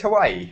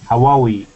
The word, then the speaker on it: Huawei: Is it just Hawaii? Huawei.